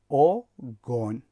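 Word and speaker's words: огонь: تلفظش رو اگر توجه کرده باشید میگوییم آگون، نمیگوییم که آگون، میگوییم آگون. یعنی هیجای دوم با شدت تلفظ می شود به خاطر که زده در بالای حرف در هیجای دوم افتاده است و به همین خاطر هم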